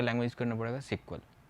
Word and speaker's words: SQL: इसे प्रोनाउंसिएशन किया जाता है सिक्वल. जनरली लोग इसे एसक्यूएल पढ़ते हैं.